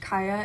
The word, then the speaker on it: Kya: a young girl, actually, whose name I think is pronounced Kaia. It's spelled Kya. I was saying it Kaia the entire time I was reading it.